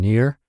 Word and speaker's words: Nir: practical tips that we can use from from Near by the way near is spelled n iir and his site is spelled